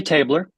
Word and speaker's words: Tabler: Am I saying it right? Tabler or Tabler? Tabler? Actually, Tabler. Tabler.